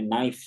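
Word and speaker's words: knife: होगा कायदा पढ़ा था कि अगर के और एन इकट्ठे आ जाए मिसाल भी ली थी हम लोगों ने नाइफ ट जी तो ये जब इकट्ठे आ जाएंगे तो हमेशा याद रखना है कि के को आपको नहीं पढ़ना लिखा तो जरूर जाएगा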